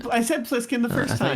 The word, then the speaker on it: Plissken: Plissken. What was it? Snake Plissken. Snake Plissken. Snake. Is it I'll Snake? allow it. It's Snake Plissken, yes. I said Plissken the first I thought I time. said Bliskin, but okay.